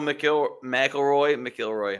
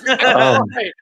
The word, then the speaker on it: McIlroy: Tiger Woods, and Royal McIlroy. Oh my God! Stop saying it wrong. It's McIlroy.